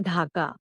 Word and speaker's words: ढाका: It sounds like a breath ड इन the word data और the sound of ढ इन the name of the Bangladeshi capital ढाका।